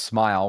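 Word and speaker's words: Smael: Smile Mundon, by the way, it's pronounced Smile, which I easily uh get on board with with that type of uh with that type of name.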